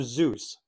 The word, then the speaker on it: Seuss: Seuss, but did you know that he pronounced his own name differently? Well, we say it like it rhymes with goose. He actually pronounced it like it rhymes with voice.